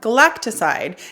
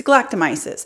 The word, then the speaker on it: Galactomyces: is the dr galat probably mispronouncing that galacticide it's galactomyces this is a galactomy serum